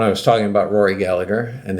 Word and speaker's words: Gallagher: about Rory Gallagher, and they let me know the pronunciation is Gallagher. I get that if you're Irish. Completely respect that. But you know what? I'm not Irish. I have a friend whose last name is Gallagher. He lives here in the U.S. That's how he pronounces it. I'm sure his ancestors pronounced it Gallagher, as they should have.